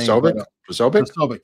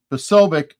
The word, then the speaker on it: Posobiec: Posobiec, yeah. Posobiec, was putting on 8646.